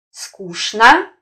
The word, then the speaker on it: скучно: Буквенное сочетание ЧН может произноситься по-разному. Например, как ЧНа в словах цветочный, красочный. Как ШНа в словах скучно, яичница.